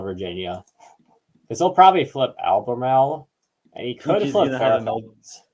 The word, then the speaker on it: Albemarle: Alphamale County, Virginia. Yeah, that's. Is that a real county? No, it was just me failing trying to pronounce this. No, I'm kidding. Albemarle.